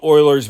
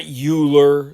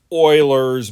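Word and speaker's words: Euler: Um, so we're going to do what's called Oilers's method. It is not Uler. It's not like Ber's Day Off. This is pronounced Oilers's method.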